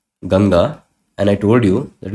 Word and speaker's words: Ganga: you can relate that the bigger the bigger letter it comes first so the bigger lettera it came first and then that smaller letter it came afterwards so it is pronounced as ganga and it can be